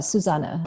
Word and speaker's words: Susanne: Yeah, and the way you say my name is Susanne. Okay, Susanne. But it is spelled with an E at the end, but it's German.